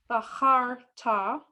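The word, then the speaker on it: בחרת: No, that's that little h sound. Oh. Baharta.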